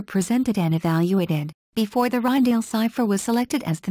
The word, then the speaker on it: Rijndael: security of AES below the name ryale Dutch pronunciation is a play on